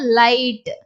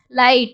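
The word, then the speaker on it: light: வேர்டை நம்ம எப்படி படிப்போம் லைட் will I லை இட் லைட் அதே மாதிரி பிரைட் ஹை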